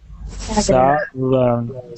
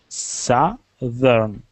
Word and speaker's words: Southern: just do it in the two syllables. Try not to think about the TH. Just think of it that it's spelled a different way. So do the first syllable, sa, Sa. okay, and thern. Vern. No, it's thern like Can you write in